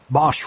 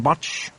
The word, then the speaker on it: Bosch: on a computer screen Bosch couldn't see you have business in Hong Kong Mr botch the inspector asked he had somehow butchered the single syllable of Bosch's last name making it sound like botch no Bosch said my